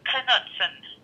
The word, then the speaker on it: Knutson: And the last name, she pronounces the K also. It's Knutson. K-N-U-T-S-O-N.